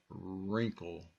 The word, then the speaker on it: wrinkle: the next one is wrinkle so you don't hear the W here you only hear